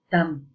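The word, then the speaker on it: 닮: Ini ada kata dalm tulisannya ya, maksudnya dalma nanti kayak bacanya, dalma kayak gitu ya, atau dam seperti ini, dam gitu aja.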